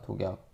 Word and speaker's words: 독약: 그건 어떻게 발음합니까? 독약. 독약이라고 발음하죠, 그냥.